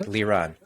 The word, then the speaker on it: Liran: We are officially live, Liran. Liran. Did I mispronounce that right off the bat? Liran.